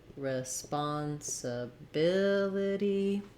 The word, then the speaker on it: responsibility: One is start on the stress syllable, like ability, responsibility. That's going to help you remember where that stress falls and get the rhythm correct. Two, try saying each syllable slowly and then speed up, but keep the rhythm the same. So I don't want to go too slow or too even across the syllables. I still want to be longer on bill and shorter on my other syllables.